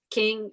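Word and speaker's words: Qing: album right now uh king is on the way but it's spelt q-i-n-g um so that's that's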